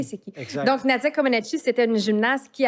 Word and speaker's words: Comaneci: Non, puis tu as On est- parlé aussi de Nadia Gomeshi. Est-ce que je prononce bien? Non, Komeshi. Comaneci. Comaneci, tu vois?